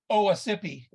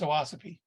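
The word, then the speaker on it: Owasippe: the presentation you know for a long time the one in Chicago I called it uh OHA sippy and as we all know it's owasapi so I'm definitely not the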